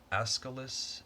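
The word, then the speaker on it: Aeschylus: old copies of um greek plays so um azkalis that's how you say it uh and it's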